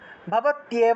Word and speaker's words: ভবত্যেব: তাহলে ভবত্যেব সমগ্রাপি, ভবত্যেব, এখানে তয়ের সাথে জফলা ছিল, হ্রস্বইকার ছিল, সেজন্য ভবত্যেব উচ্চারণ হয়েছে।